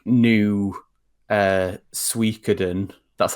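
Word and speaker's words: Suikoden: that was basically for this like new uh suikaden that's how you pronounce that word um game i love that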